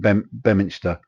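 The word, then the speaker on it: Beaminster: them um town called it's written be be Minster but I think actually uh locals call it B bminer Bea Minster and that's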